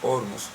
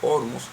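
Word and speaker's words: Ormuz: Ormus y es que la pronunciación correcta, según lo que se escucha internacionalmente es Ormus. Y este es un nombre persa. Los iraníes su idioma es el persa o farsi o farcí. Y como no conocemos de ese idioma, pues yo me siento más cómodo pronunciando ormos y así lo digo.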